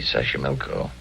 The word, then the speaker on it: Xochimilco: Xochimilco. Okay. So you pronounce it better than I do. It's easy, Xochimilco.